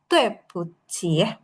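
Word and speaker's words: 对不起: Bisa dimengerti Mas Amar, jadi 对不起 itu cara bacanya kayak gitu ya. 对不起. Karena yang di U ini tuh nggak ada nadanya, jadi nggak perlu dipanjangin ya. Yang kita panjangin tuh cukup yang ada nadanya aja.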